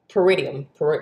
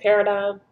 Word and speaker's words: paradigm: Peridium. Is that how you say it? Paradigm. I always fuck up that word, but you know what I'm talking about.